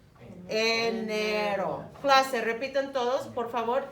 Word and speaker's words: enero: Enero.